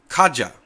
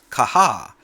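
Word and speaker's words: Caja: to pronounce it wrong Kaja which is the file manager in the mate desktop is actually pronounced kaha because the J as in the Spanish language has a h sound like an H but I've heard it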